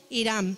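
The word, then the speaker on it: Hiram: hizo la hizo con irán no es irán de lo que conocemos hoy por irán irán era un rey que se escribe con h y con m vale hizo la alianza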